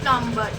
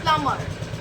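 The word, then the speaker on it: plumber: टू से इज़ प्लमबर इट्स नॉट प्लमबर इट्स प्लमर प्लमर okay प्लमर इज़ अ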